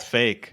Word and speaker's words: PHEIC: Is it a coincidence that it's pronounced fake?